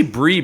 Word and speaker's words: Brie: I say brie because that's spelled like the cheese.